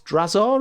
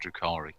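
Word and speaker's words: Drukhari: the then the dark eldar i never quite pronounced his name correctly it's drazaar is it is that right christ mate with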